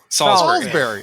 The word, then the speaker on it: Salisbury: going to say salisbury is that how you pronounce it no that's exactly right salisbury i wanted to say salisbury yeah well i